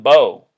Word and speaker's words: Bo: Biden had a son his son Bo rhyming with Joe notice that Bo Biden